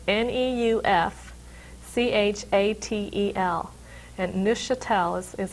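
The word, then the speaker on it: Neufchâtel: It's spelled a little different. It's French in origin. It's Neufchatel. And Muscatine is how it's pronounced, and I can't tell any difference between the two.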